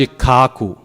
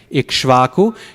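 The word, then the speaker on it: इक्ष्वाकु: Or Maharaj Ikkaku, Ikshvaku, you have ka, sha, and va. That's 3 times the work, right? Ka, sha, va. So let's just get rid of the sha and the va.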